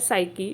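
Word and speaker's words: psyche: से मिलकर बना है एक है से की जिसमें पीस साइलेंट है जो इसका मतलब होता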